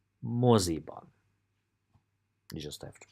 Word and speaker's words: moziban: Moziban. 3 syllables, quite easy. Moziban. Moziban.